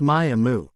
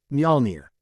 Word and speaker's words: Mjolnir: It's Maya-mu. This time Loki does chuckle, shaking his head. Mjolnir. He corrects. Naruto scrunches up his nose, trying to get the right pronunciation. Mjolnir.